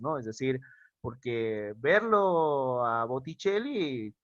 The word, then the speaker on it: Botticelli: como por ejemplo el señor botticelli así se pronuncia en en buen en buen italiano botticelli enlace pasa a hacer un h botticelli y la doble l también una sólo una